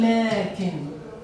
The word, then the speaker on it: لكن: أنا عند اللفظ أقول لكن، لكن لا أستطيع أن أكتب هذه الألف. هذه الألف تلفظ لكنها لا تكتب.